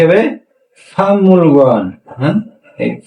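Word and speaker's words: 박물관: আমাদের উচ্চারণ কি হবে? ফামুল গোয়ান। হ্যাঁ, এই ফাং মূল গোয়ান, ফাং ফাংমুল গোয়ান।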